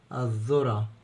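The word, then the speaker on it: الذرة: على حرف الذال المضمون الذو الذو الذو الذو الذره الذره الذره الذره كانت ذره الثالث الذئب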